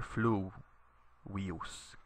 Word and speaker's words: fluvius: Notice that you put the accent on the u here, fluvius, because the I here is short. There's no macron over it, and it's not a diphthong.